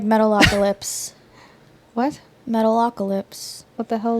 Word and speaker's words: Metalocalypse: I mean, it's a real band, but they're cartoon characters, and their show is Metalocalypse.